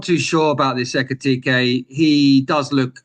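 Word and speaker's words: Ekitiké: It would be a great signing for Liverpool, although they already got what Etike. Let me say it correctly. I have to find the name. Ekitike. Ekitike. So yeah, that's two strikers, or more or less two strikers.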